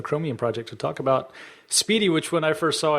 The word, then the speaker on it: SPDY: it last year sometime I thought it was Spidey spdy for those that are listening at home and don't have access to the to the show notes pronounced Speedy right here on the executive